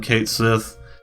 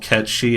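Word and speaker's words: Cait Sith: Okay, I'm gonna call him Kate Sith. Ket Shi, whatever. Okay, it's gonna annoy the shit out of me if he's called Ket Shi in the game, which everybody says is the correct pronunciation.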